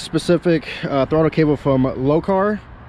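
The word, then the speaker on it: Lokar: uh throttle cable from low car might be how you pronounce it it's l-o-k-a-r all this stuff is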